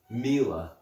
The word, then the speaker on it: Miele: at a Miele classic c1 Olympus I know Miele I looked into it that's how you pronounce it it's a bit strange I have